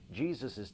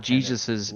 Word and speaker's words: Jesus's: and perusing the Bible that is not how you pronounce that it is not Jesus's it's Jesus there is no es at the end of that you can't your life